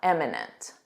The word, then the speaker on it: imminent: But in other worlds the world of music or dance they're probably not imminent. Imminent with an I. Notice this pronunciation. Im. Imminent. Repeat after me. Imminent.